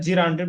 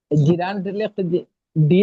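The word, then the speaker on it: gerund: তারপর খেয়াল করুন এখানে জিরান্টের ব্যবহার।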